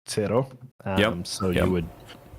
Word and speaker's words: CERO: And what's the Kiro? Zero or cero. Cero. Because that's, if you say zero in Spanish, it's cero.